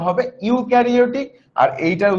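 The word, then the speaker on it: eukaryotic: এটার উচ্চারণটা হবে ইউক্যারিওটিক।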